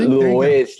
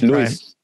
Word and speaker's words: Luis: you pronounce it luis it's not louise like o-u-i-s but it's lewis that's my middle name